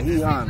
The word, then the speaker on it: Gijón: Oh, Gijón. Is that how it's pronounced? Yeah, Gijón. Gijón.